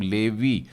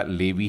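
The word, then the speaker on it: לוי: एक बिंदु और युद्ध इसका उच्चारण क्या होगा लेवी लेकिन एवरी उच्चारण में हल्का सा यह आता है मतलब लेवी यानी मैं बोल भी दूंगा तो ऐसा लगेगा लेबी ही बोला है लेवी चौथा पुत्र देखते हैं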